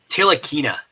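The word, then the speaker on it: Ntilikina: I think it's Tilakina is the pronunciation. Yeah, I think that N is silent.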